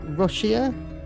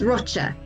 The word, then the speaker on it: Rocha: Your surname, is it Rochia? It's Rocha.